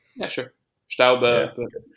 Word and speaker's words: Staub: And I'll give you an example by way of a quote from Staub about Mm. halfway through. Am I pronouncing that name correctly? Yeah, sure. Yeah. Staube, but it's fine.